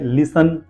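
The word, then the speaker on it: listen: एस टी ई एन का sense है T silent है लिसन एंड फसन एफ ए एस टी ए टी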